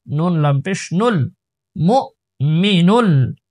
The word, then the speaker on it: المؤمن: লাম পেশ মুল, সালামুল, মিম হামজা পেশ মু, মু, একটু ধাক্কা দেব, মু, মিম জের মি, মু মি, নুন লাম পেশ নুল, মু মিনুল, মু মিনুল, মু মিনুল,